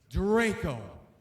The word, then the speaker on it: Draco: at doing that too it's pronounced Draco and uh you said self-proclaimed